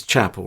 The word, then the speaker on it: Chappell: to get it wrong it's it's chapel right he's got two l's that's what threw me um sometimes such